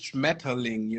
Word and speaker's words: Schmetterling: a style of pronunciation, because the real word is obviously it is Schmetterling, and if you say it like this, it sounds way softer than if you would say Good point. Schmetterling, because nobody actually in Germany beside Rammstein is rolling those R's and shit anymore.